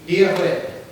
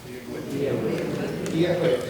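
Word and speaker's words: Dia dhuit: So to start off with, you'd say hello, which would be Diahwit. Diahwit, yes.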